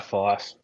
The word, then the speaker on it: Fyfe: It's a name that starts with an F, rhymes with rife, and might put you in strife. Who is it? It's Nat Fyfe.